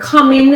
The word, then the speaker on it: coming: Okay, so the word coming has 2 syllables. The stress is on the first syllable. It's on ka.